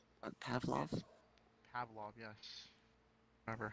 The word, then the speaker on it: Pavlov: Pavlo? I don't know how to pronounce that. I could buy it right now, actually. I think it's a I'm pretty good job. Apparently spelling it wrong. Pavlov? Pavlov, yes.